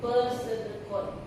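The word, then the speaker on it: pseudocode: Nah, kalau pesedekot dia kode semu makanya disebut pes pe bacanya pesedekun ditulisnya kan peseudone ya dibacanya pesedekun nah dia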